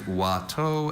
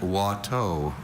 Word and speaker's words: Watteau: There's Watteau and Watteau.